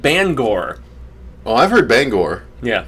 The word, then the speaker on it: Bangor: benefits well i've i i called it banger for the longest time and then you hear people in maine and they call it bangor well i've heard bangor